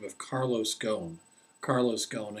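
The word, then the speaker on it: Ghosn: the name of Carlos gone Carlos gone and gone is spelled g hosn GN Carlos gone and he went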